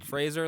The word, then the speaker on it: Fraser: Fraser Fraser Fraser yeah Fraser like Razer yeah because he's been he's been going out now and saying you guys been mispronouncing my name for my whole career yeah it's Fraser and and they have